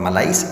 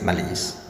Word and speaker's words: malaise: It's not malais, it's malaise.